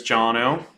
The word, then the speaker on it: Jonno: here in New York City my name is jonno uh pronounced Bono like the like the YouTube singer but with the J and um I'm super